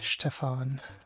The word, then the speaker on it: Stefan: I am a Stefan. Not a Stefan, not a Stefan, not a Steven.